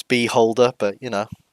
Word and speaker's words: Beholder: uh and they yeah they butchered the pronunciation because it's Beholder but you know beeh holder be holderer who holds